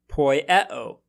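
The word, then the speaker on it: ποιέω: As another example, consider the word poieo. Here we have 4 vowels, but notice that 2 of them form a diphthong. So according to our rule, we must have 3 syllables in this word.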